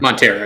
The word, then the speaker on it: Montero: uh montero by i that's right that's how you say it right cooper montero yes yeah i thought so montero by little mousex